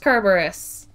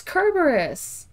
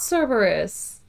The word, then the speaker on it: Kerberos: that would be the cutest yes izzy it's pronounced kerberos yes yes it is don't at me the